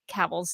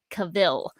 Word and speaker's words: Cavill: also uh of henry cavill's name i like to think of it if you're having trouble remembering how to pronounce henry cavill's name correctly i just rhyme it with travel and that's how i